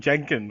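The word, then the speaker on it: Janken: It's fucking Jenkin, all right? Which is Japanese for paper scissors rock, or Yeah, I think isn't it just a made up word? all right. rhymes with wankin.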